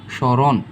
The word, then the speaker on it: স্মরণ: ওকে, আর আর এখানে ওকার কেন হয়েছে, স্মরণ, রয়ের নিচে একটি ও লুকিয়ে আছে তাই আমরা কি দিয়েছি, রয়ের দুই পাশে ওকার দিয়েছি।